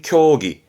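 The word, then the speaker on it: 競技: 발음은 교기.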